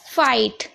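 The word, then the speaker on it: fight: यहां पर पढ़ते हैं फाइट फाइट में आप देख रहे हैं जी एच टी है तो जी एच को नहीं पढ़ा जा रहा है बट टी को पढ़ा जाएगा याद रखिएगा जीएच को नहीं पढ़ेंगे पर जो हमारा टी है उसको पढ़ा जाएगा ये इसलिए बता रही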